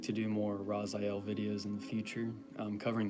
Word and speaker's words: Raphael: or evocation, I'm sorry, you will say Raphael or Raphael with the emphasis or the accent on the last syllable, the L.